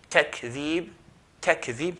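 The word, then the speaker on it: تكذيب: Takzeeb, takzeeb, touch the kaf.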